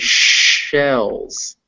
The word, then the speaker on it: shells: Yeah, so the first one is cells. The second one is shells.